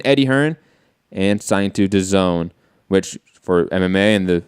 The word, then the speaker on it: DAZN: jump in that for a second so it's the zone it's topical that's how you pronounce it the zone yeah the zone okay I was saying Daisy like you know I guess it would be